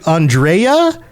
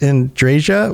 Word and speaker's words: Andreja: her name is actually Andrea because the J has a y sound traditionally when you have a name that's spelled like this but I guess everyone in the game just mispronounces it in draia which goes all the